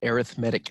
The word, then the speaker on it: arithmetic: But when it's pronounced arithmetic, it's an adjective. In this case, an arithmetic sequence. When it's pronounced arithmetic, it's a noun, as in the subject of studying the mathematics of numbers.